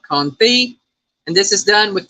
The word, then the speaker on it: confit: LG Bass says confit. No, it's confit. No, it's confit. It's pronounced confit. Well, it looks like it says confit. That's how it's spelled. It's confit, but it's pronounced confit.